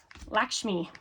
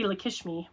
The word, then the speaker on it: Lakshmi: Um, Lakshmi, Lakshmi, I think it is pronounced. I uh I always say Lishmi, but I think it's I think it's Lakshmi.